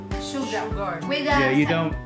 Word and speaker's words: sugar: Sugar. Yeah, I know it's spelled sugar. Yeah. But it's pronounced sugar. Oh, it's silent R. Difference. Yeah. For sugar. Sugar. You don't pronounce the R.